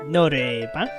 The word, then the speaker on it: 노래방: We call it Norabang. Noraibang. A singing room. 노래방? Norebang? Oh, that's how you pronounce it.